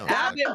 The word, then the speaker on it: Abbott: Yeah, but Abbott rhymes with maggot, so you know.